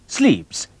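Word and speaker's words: slips: टा को कहते हैं स्लीप्स स्लीप्स ऐसे ही प्रोनाउंस करते हैं मैंने विजुलाइज किया टाई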